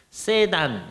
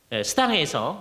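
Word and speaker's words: Sedan: 있죠 이게 스당 성입니다 세단 이잖아요 그냥 영어로 발음하면 그 불란서 제어기 때문에 스당이라고 합니다 정말 아름다운 성의 모습이 보여요 스당 열매 있는 삶을 사는데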